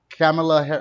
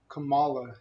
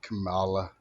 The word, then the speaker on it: Kamala: pick name yeah how her name is uh camila harris you're racist what how do you say her name her name is kamala harris kamala you see what they're pushing